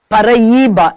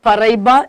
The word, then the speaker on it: Paraíba: Paraíba, it is not Paraíba, it is Paraíba.